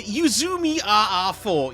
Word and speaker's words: Uzumi RR4: How do you pronounce that again? The Uzumi RR4, yes.